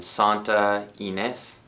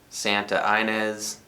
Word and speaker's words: Santa Ynez: And this particular album was recorded in Santa Ynez. And knowing Californians like that, city could be pronounced Santa Inez.